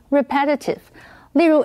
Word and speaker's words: repetitive: incentives。额外的奖金跟假期经常被用来当作提升工作表现的奖励方式。继续我们看 repetitive 这个形容词 ,re 这个字首是指再一次 ,pet 这个字根有追求的意思。所以 repetitive 是指重复性的或者是反复的。注意它的重音是在第二个音节念成 repetitive。例如 ,after the first few episodes, the show became boring and repetitive.